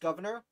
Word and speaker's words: Gouverneur: I think his name is pronounced governor, but I pronounce it gouverneur, which I know sounds the same, but gouverneur is how it's spelled, but I think it's pronounced governor.